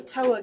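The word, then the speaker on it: Towa: This is called a Toa Gauge. It's spelled T-O-W-A.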